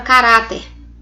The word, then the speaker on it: caráter: a penúltima ea antepenúltima eu tenho a palavra caráter caráter observe que orar penúltima penúltima sílaba mais forte então vou chamar de